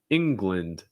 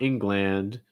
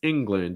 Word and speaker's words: England: ukraine um next one england england no it's not england it's england it gets reduced so the gland is more glind glind almost like a short eye sound glint england other thing